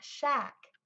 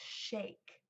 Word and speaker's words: shake: vowel say its name it's not shack its shake the word shack is